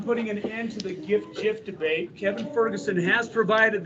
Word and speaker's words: GIF: I'm putting an end to the GIF debate. Kevin Ferguson has provided the answer. It is a hard G. It stands for Graphic Interchange Format. Boom. It is GIF.